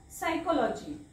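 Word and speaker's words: psychology: पी एन पी टी पी एस पी एन पी टी जोडी सोबत पी वाचायचा नाही सो जसा इथं पहा पी एस जोडी आहे इथला पी वाचायचा नाही फार फेमस शब्द आहे हा सायकॉलॉजी सायकॉलॉजीचा स्पेलिंग देतात आणि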